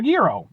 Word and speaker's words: gyro: along the lines of a guo or a Euro or Gyro however the you want to pronounce I know it's supposed to be Euro um it's a similar